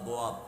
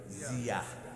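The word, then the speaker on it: ضياء: সোয়াদা দোয়াত দিয়া। আমরা বাংলাতে উচ্চারণ করি কি? জিয়া। এটা হলো দিয়া মানে হলো আলো।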